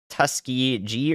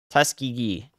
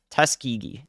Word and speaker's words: Tuskegee: hours into Central Georgia tusky tusky G or tusky git Tuskegee Tuskegee thank you I almost had it right I almost had it right oh the soft G guys it gets you it gets you at times thank you yet the